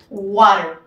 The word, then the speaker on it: water: en donde les explicamos que la t tiene muchas ocasiones un sonido similar a la r no una r así súper fuerte como nosotros la pronunciamos en un water bien water tenemos acentuación al principio luego tenemos la palabra